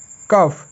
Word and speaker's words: cough: এখানেও GH এর উচ্চারণ হচ্ছে ফ এর মতো। কাফ, COUGH, কাফ।